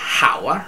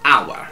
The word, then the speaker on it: hour: Quindi anche se hour ha l'H, non si pronuncia hour, ma hour.